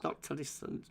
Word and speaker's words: noctilucent: Say that again, because I can never pronounce that. Noctilucent.